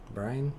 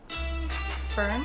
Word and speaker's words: Byrne: ethan hawke Rose Byrne Brian all right Brian how do you say that burn I may look like